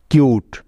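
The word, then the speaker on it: cute: সি ইউ টি ই কিউট লক্ষ্য করে দেখো এখানেও শব্দের শেষে একটি সাইলেন্ট ই আছে অর্থাৎ অনুচ্চারিত ই আছে তাই তার আগের ভাওয়েলটি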